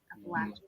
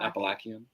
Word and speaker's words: Appalachian: It's how you pronounce it based on what state you're from. Appalachian. Or your dad says Appalachia. Or Appalachian. He says Appalachian.